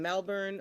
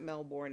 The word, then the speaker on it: Melbourne: joining us live from Melbourne, Australia. And I calling know up he's from going to Australia. correct me because I don't say it right. It's not Melbourne, it's Melbourne or something.